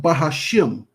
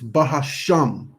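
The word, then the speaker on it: HaShem: to somebody else it's it's sham not shim it's not bahashim it's bahasham and that's just we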